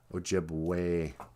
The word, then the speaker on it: Ojibwe: until you think okay think about the word ojibwe we spell it o j i b w e o jib way e sounds like an a so that's why